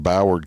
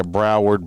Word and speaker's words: Broward: this one happened in boward county uh what the hell what'd you just say boward ain't that how you say it howard yeah broward boward whatever you want